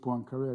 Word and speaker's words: Poincaré: Poincaré wave, we pronounce it Poincaré, I just want to make sure that.